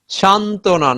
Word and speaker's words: সান্ত্বনা: যুক্ত ব্যঞ্জন মানে কি, একাধিক ব্যঞ্জনের সাথে যদি ব ফলা যুক্ত হয় সেক্ষেত্রে ব এর উচ্চারণ থাকে না।